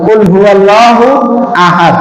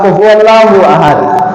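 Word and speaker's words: قُلْ هُوَ ٱللَّهُ أَحَدٌ: একটা জিকিরের শব্দ এরপরে প্রশ্ন করছেন কুলহু আল্লাহু কুলহু আল্লাহু আহাদ কুলহু আল্লাহু আহাদ এখানে কি যেমন অনেকে বলে কুলহু আল্লাহু আহাদ কুল আল্লাহ বা কুফু আল্লাহু আহাদ না কুফু আল্লাহ বরং কুল হু আল্লাহু আহাদ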